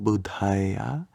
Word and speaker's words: Buddha: Like, for example, if you're a Buddhist doing Namo Buddhaya, here you have a DH sound in Buddha. So you want to make that H sound after the first Buddha.